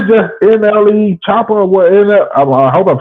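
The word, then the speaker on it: NLE Choppa: And it's just NLE Chopper or what?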